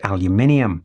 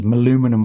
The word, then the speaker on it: aluminium: metal parts are machined aluminium. That's right, we pronounce that word properly here in the UK. Aluminium. I mean, after all, you wouldn't call Han Solo ship the aluminum falcon, would you?